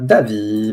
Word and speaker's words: Davy: Davy, bonsoir. Bonsoir, on prononce à l'anglo-saxonne Davy.